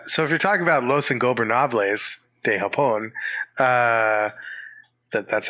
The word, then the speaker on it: Los Ingobernables de Japón: So if you're talking about Los Ingobernables de Japón, that's how you say it.